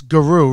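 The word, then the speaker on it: Giroux: flyers he's a captain how do you say his name it's guru right french silent x and the flyers are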